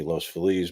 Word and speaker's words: Los Feliz: Has the Los Feliz property sold? I don't think so. We're talking about the murder house in Los Feliz, which, if you pronounce it properly, be Los Feliz, but it isn't ever pronounced properly.